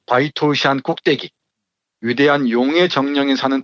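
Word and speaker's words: 白头山: 기백이 넘치는 한국 호랑이로 성스러운 바이토우샨, 이 백두산의 중국식 발음입니다. 바이토우샨 꼭대기, 위대한 용의 정령이 사는 동굴에서 숨을 거두었다.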